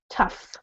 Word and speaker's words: tough: it's tough time so this pronunciation of the GH it's really like an F so it kind of sounds more like if it was written like that tough toss toss uh-huh tough